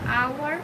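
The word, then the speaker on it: hour: আওয়ার উচ্চারণ হতে আয়ের মতো উচ্চারণ হয়, যা একটি স্বরবর্ণ। এখানে বসবে অ্যান।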